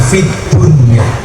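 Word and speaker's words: في الدنيا: padahal ingat rbana Atina Fid Dunya Fid Dunya itu sebenarnya bukan bacaan izhar tapi Idham harusnya bacanya Bagaimana Fidun tapi ternyata oleh ulama Disuruh membaca secara ihar jelas fun Kenapa urusan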